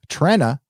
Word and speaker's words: Trenna: Trenna is pronounced like Trend.